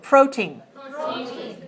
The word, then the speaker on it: protein: that word protein yes stress the first syllable when you say the word protein right how much protein is